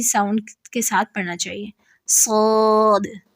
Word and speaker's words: صاد: کے ساتھ پڑھنا چاہیے، صاد صاد۔ اس میں غلطیاں کیا ہوتی ہیں؟ مخفف، مخفف یعنی ہلکا پڑھنا، یعنی صاد کو سین پڑھنا، ساد ساد ساد، ٹھیک ہے.